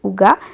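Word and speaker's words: hygge: à vous parlez donc le livre du houga h y j e prononcé houga elle c'est la méthode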